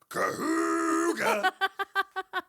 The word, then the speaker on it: Kahuga: Now, let's get back to William Kahuga, which is But by the way, you're saying it wrong. I am. It's pronounced Kahuga.